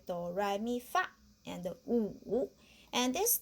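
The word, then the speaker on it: 五: The next one is wu, that means 5, okay? Wu. How to pronounce wu? Wu. Okay, because we know the English is room.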